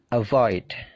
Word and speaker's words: avoid: Avoid. Become. Begin. Jadi perhatikan stressingnya. Stressingnya punyanya come, punyanya gain, punyanya leave. Jadi stressingnya itu di suara yang kedua.